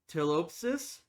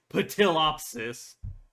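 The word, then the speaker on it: Ptilopsis: Tilopsis. I don't think the P is pronounced the very beginning. It's like terasaur or pterodactyl. Not pterasaur or pterodactyl. I don't think it would be patillopsis. Even that hurt me a little to say.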